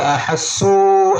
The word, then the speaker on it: أحسوا: മാത്രമല്ല അഹസ്സു എന്നുള്ളത് നീട്ടാൻ പാടില്ല. അഹസ്സു എന്നുള്ളത് നീട്ടാണ്ടല്ല. അഹസ്സു അവിടെ അലിഫ് എഴുതിയിട്ടുണ്ടെങ്കിലും അതിന്റെ മുകളിൽ സുക്കൂൻ ഉണ്ടാവും. എന്ന് പറഞ്ഞാൽ അലിഫിന് എന്തില്ല, ഉച്ചാരണമില്ല. അഹസ്സു എന്ന് ഉച്ചാരണമല്ല. അഹസ്സു ബഅസന ബഅസന ബഅസന ഇദാ